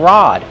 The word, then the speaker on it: rod: You can also call this a fishing rod. So it has two names, a fishing pole or a fishing rod. Kevin, how do we pronounce rod? Rod. Use the open ah sound like hot and stop.